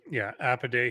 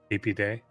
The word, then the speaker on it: Apidae: I guess that they pronounce it more with the E sound, apiary, apiarist, whatever, for a beekeeper. So I'm going to pronounce it the same way, Apidae.